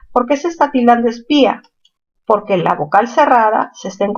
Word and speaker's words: espía: A ver, espía, mayor fuerza en la sílaba pi.